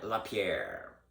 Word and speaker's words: Lapierre: Un des vice-présidents ou le président de la NRA, il s'appelle Wayne Lapierre. Je le prononce en anglais parce qu'il n'est pas québécois.